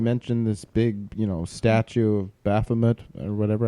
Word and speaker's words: Baphomet: You mentioned Pensacola, and you mentioned this big, statue of Baphomet or whatever. I thought it was Bahamut, but maybe I'm confusing the two. I'm the one that said it wrong. She said it right.